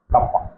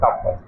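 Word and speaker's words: kappa: আমাদের অ্যান্সার আসবে 4π sigma by কাপ্পা। কে ঠিক না, একে আমরা প্রোনাউন্স করবো কাপ্পা। যেমন আলফা বিটা থিটা ডেল্টা, সেরকম হচ্ছে কাপ্পা।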